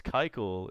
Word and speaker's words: Keuchel: discussion about Braves acquisition Dallas Keuchel or a Keuchel I should say Dallas Keuchel is how you say that five four three